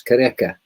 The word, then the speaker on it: Qhubeka: Well, it's it's it's obviously um it's a Zulu word actually, so it's Qhubeka. Qhubeka? Qhubeka.